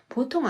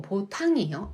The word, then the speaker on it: ボタン: 보통 아니고 보탕이에요. 아 발음이에요. 이거 한국인 분들이 많이 틀리는 발음입니다.